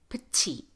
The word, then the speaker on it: petite: We say petite, not petite, even though that would fit the rule. This is the exception. T is at the beginning of the strongest syllable. We say petite, petite, petite.